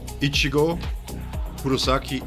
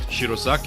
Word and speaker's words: Ichigo Kurosaki: Ichigo, Kurosaki, in a hollow. That's the right way to say it. It's not Shirosaki, it's not white Ichigo, it's Ichigo Kurosaki in a hollow.